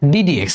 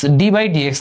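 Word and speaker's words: d/dx: তো ইন্টার ওঠার পর নতুন একটা অপারেটর সম্পর্কে জানবা, যার চেহারা হচ্ছে এটুকু, এটার উচ্চারণ হচ্ছে ডিডিএক্স, ডি বাই ডিএক্স না, এটা বলে ডিডিএক্স।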